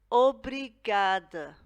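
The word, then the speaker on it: obrigado: for thank you and we pronounce it aubry gada obrigad now this is only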